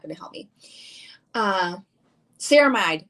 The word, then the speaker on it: ceramide: gonna help me uh ceramide ceramide that's how you say it ceramide hydrator see